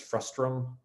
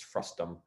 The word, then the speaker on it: frustum: It's often mispronounced even by myself very regularly as frustrum, but it's not, it's frustum.